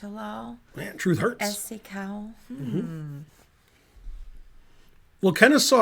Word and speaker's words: Kennesaw: lull truth hurts well kenneth saw rhymes with law so all right black